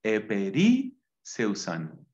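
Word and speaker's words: ἐπερίσσευσαν: eperu San eper seusan A ver vamos a pronunciarlo bien eper seusan eper seusan qué sobraron tois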